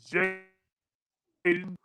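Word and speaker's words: Jaylen: Jaden Waddle out of All right. University of Alabama. Did I pronounce his name right? Yeah, Jalen Waddle.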